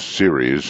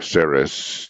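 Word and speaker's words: Ceres: enough is an asteroid it's series and or saris depends on how you want to pronounce it it's in the same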